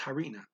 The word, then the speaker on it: harina: Let's use the Spanish, but the H is pronounced harina.